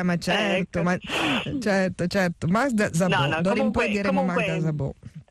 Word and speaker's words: Magda Szabó: scusare la pronuncia ho la pronuncia magiara per pronuncia magiara Ma certo Ma certo certo Magda zabo in poi diremo Magda zabo comque Allora lei